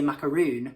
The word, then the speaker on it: macaroon: Because obviously then suppose if it's only 1-O, then you would say macaron. If it's double O, then you would say macaroon.